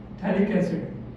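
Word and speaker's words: phthalic: इसका एक और नाम है कॉमन बच्चे कॉमन नेम है थैलिक एसिड। ये P साइलेंट दिख रहा है आपको यहां पे।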